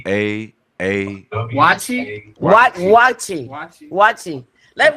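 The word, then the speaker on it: waakye: to mispronounce it so I'm going to just spell it w a a k y e key say it again W A A watchi watchi let W talk he's he's a he's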